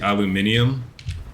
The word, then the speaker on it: aluminium: I guess he misspelled it, but also like we just mispronounced it because it's supposed to be aluminium, but we say aluminum because you know, America, I should be able to get this note of CO as well.